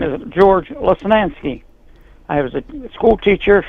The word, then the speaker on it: Lesnansky: My last name is George Lesnansky. I was a school teacher for 30 years. And yeah, Lesnansky was my legal name, and it definitely is a three-syllable name that's Polish and Slovak, and no, I'm proud of it.